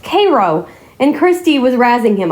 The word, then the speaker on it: Cairo: There's a a little town in Missouri that Ryan Hall thought was Cairo, but it's actually pronounced Cairo, and Christy was razing him about it.